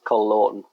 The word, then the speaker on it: Col Lawton: I mean anyone in America struggles with this call laon so is it is short for Colin Colin